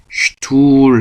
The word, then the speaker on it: Stuhl: 그래서 우리가 1, 2강 때 S 들어간 단어로 der Stuhl 하고 배웠죠. 의자. der Stuhl 복습하시면 아실 겁니다. der Stuhl. 그때 S하고 T가 들어가는 건 슈투로 발음한다 라고 말씀드렸던 것처럼 여기서는 S하고 P도 스프가 아니고 슈프라고 발음한다.